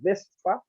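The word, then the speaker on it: VSEPR: to the theory codes which they pronounce as vespa but it's actually balanced shell electron pair repulsion so this theory tells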